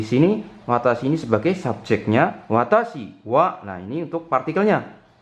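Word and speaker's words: 私は: Jadi itu "watashiwa", bukan " watashi wa", oke.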